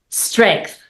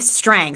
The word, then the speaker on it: Streng: Her name is Strength. Did I say that correctly? I have a thing with pronouncing everybody's names. I appreciate that. It's Strang. So, no th on the end.